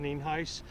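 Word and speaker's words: Nienhuis: Sheriff spelled n-i-e-n-h-u-i-s and it's pronounced neenheis uh we're here out at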